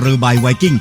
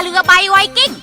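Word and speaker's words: เรือใบไวกิ้ง: ได้ ยัง ไง ก็ ต้อง อ่าน ว่า ตรา เรือ ใบ ไวกิ้ง ตรา เรือ ใบ ไวกิ้ง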